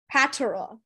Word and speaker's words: patera: Patera. Patera. Are there any alternate pronunciations for the word? No, just patera. Patera. Is it patera or patera or patera? Patera. That's the only pronunciation.